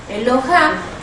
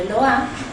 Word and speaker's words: Eloah: ponerle im al final, le vamos a poner una A y un acento en la A. Es decir, para saber en dónde está la fuerza de la palabra, de la pronunciación. Eloha o Eloah también viene de la